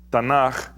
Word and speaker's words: Tanaj: hebreo se escribe Así tanaj se pronuncia de esta manera tanaj y cuando se transcribe se transcribe como tanac se transcribe de esta forma tanac ahora tanac que es